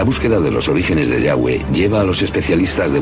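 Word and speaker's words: Yahvé: son y hw h y pensamos que probablemente se pronunciaba el yagüe o algo así pero ya ve solo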